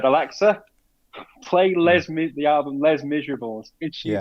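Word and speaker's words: Les Misérables: The musical is Les Miserables. Correct. Even well pronounced as well.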